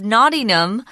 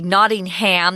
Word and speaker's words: Nottingham: in the city of Nottingham a lot of Americans would say Nottingham that's incorrect it's Nottingham and they just kind of dropped that last syllable there's a charity called